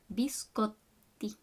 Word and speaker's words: biscotti: Biscotti. Biscotti. Make sure you make that pause on the double T. Biscotti.